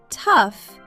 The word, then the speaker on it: tough: Tough sounds like uff.